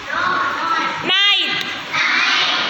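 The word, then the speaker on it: knight: यानी के और एन इकट्ठा है तो हमने क्या करना है, के को साउंड नहीं करना है, एन को करना है। के को हम सिर्फ लिखेंगे, स्पेलिंग है लिखने की, हम लिखेंगे बट हम उसको प्रोनाउंस नहीं करेंगे। ठीक है, एन से प्रोनाउंस करना स्टार्ट करेंगे, नॉट, नाइट, नो, नॉलेज।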